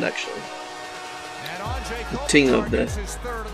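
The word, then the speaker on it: Anže: And it's pronounced more like Anze.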